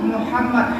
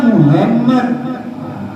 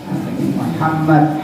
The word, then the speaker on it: Muhammad: Ingat, Muhammad, ha. Jangan dibaca Muhammad. Itu Muhammad itu tetangga saya. Nanti berselawat kepada tetangga saya lagi kan Muhammad. Jadi bacanya Muhammad, ha, Muhammad. Ingat ya, apabila ada nun